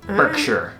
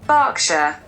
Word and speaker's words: Berkshire: got this all right Berkshire Berkshire box yeah I'm pretty sure it's not vogue sure is she's saying Berkshire Berkshire it's like with an a Berkshire if you are from